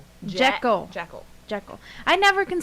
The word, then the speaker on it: Jekyll: Jackal. Jackal. Jekyll.